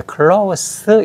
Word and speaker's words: close: 근데 이제 클로우스 이렇게 발음을 하면 밀접하다는 뜻이잖아요. 근데 클로즈 해가지고 저 유성을 바내면은 문을 닿는다는 뜻이 돼 버려.